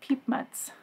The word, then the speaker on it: Piepmatz: I saw how to pronounce it in one of the forums on BoardGameGeek, and not the way that a native English speaker like myself would think to pronounce it, but Piepmatz.